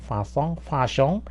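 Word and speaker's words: façon: 그래서 어쨌든 발음은 이렇게 되면 파송이에요. 파숑.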